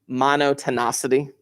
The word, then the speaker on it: monotonicity: I have heard this pronounced so many different ways. Monotonicity is probably my favorite version of pronouncing it. Pronouncing it is not the big deal. Just mono, ton, city.